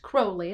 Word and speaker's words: Crowley: everybody his name um his name is pronounced crowley like the bird and his his name